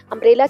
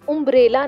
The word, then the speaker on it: umbrella: अम्ब्रेला की spelling you से start हो रही है, इसको हम उम्ब्रेला नहीं बोलेंगे, अम्ब्रेला बोलेंगे।